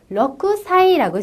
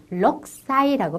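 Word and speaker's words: ろくさい: 사이 다섯살 고사이 여섯살 러크 사이라고 쓰여 있습니다만 발음 때는 럭 사이라고 발음하여 있습니다 일곱살 나나 사이 여덟살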